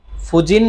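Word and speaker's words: 婦人: এরপরে হচ্ছে কি আপনার হচ্ছে ফুজিন মানে হচ্ছে এই কাঞ্জিটার এখানে হচ্ছে উচ্চারণ হচ্ছে ফু।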